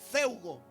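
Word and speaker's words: φεύγω: Apunte la palabra huir del griego se pronuncia feugo. Feugo como fuego.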